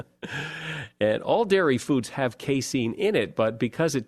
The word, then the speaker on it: casein: Well, there's a chemical in cheese called casein. I think that's how you pronounce it, C-A-S-E-I-N, casein.